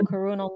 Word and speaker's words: Karun: now after this event and yeah and here's karun LinkedIn let me know if I'm pronouncing your name by the way I should